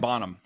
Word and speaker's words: Bonham: I mean people say it so fast that it's almost like B O N A without an H. Yeah. Yeah. Like Bonham.